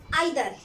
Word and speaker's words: either: जैसे कि आइदर, यानी कि EITHER, इसको बहुत से लोग ईदर भी बोलते हैं, ठीक है, ईदर, कॉमा